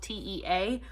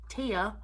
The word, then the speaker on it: Tea: realize that's how you say her name because it's spelled t-e-a so i was saying like tea or tea it's tia um in this language that they have we're